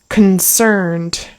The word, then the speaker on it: concerned: it's like concerned concerned really that word is two syllables the first syllable is very reduced there's almost no vowel sound there it's like awah and then cerned is harder so concerned also yeah you're very